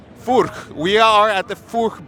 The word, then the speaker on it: Furch: No, how do you pronounce it again? Furk. Furk.